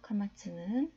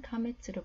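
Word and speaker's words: קמץ: 카마츠는 카메츠로 불리기도 하고, 홀람은 홀렘으로, 키부츠는 쿠부츠로 불리기도 합니다.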